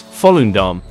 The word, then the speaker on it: Volendam: In Dutch, Volendam is pronounced as Volendam. The V sounds like an English F, and the emphasis is on the first syllable, with a soft and slightly prolonged dam at the end.